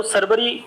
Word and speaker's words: Sarwari: इस खड्ड का नाम है, या तो सरबरी खड्ड बोलते हैं इसे, या सरबारी, क्योंकि इसके इंग्लिश में स्पेलिंग है SARWARI। तो अब इसको सरबरी भी पढ़ लेते हैं, कई बार सरबारी खड्ड भी पढ़ लेते हैं, तो इतनी कोई खास दिक्कत है नहीं।